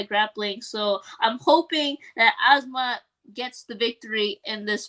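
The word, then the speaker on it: Azamat: His name is funny because it's Asmat. It rhymes with Kazmat.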